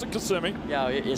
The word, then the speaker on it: Kissimmee: Yeah, they pronounce it Kissimmee.